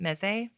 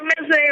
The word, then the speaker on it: meze: Meze? Yeah, meze or meze.